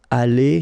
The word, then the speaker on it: allée: But then phonetically it doesn't exist, all right? So it's aller here and then aller here, the way you pronounce it.